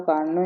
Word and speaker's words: Carnot: For a Carnot engine, here T is silent.